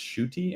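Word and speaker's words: Ncuti: I think his name is pronounced Shuti.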